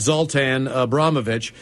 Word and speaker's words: Zoltan Abramovich: It's pronounced Zoltan Abramovich. The reason he calls it basket instead of basketball is from his time in France.